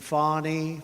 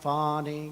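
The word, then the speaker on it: Fani: local attorney generals and fonnie fonnie you know fonnie spelled f a ni I my name is fonny f a n i i don't figure it you put a little French accent on the word with a lover Wade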